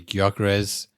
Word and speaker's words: Gyökeres: You know, I I'm sorry I've been pronouncing your name wrong. So, yeah, it's going to be Guakarez.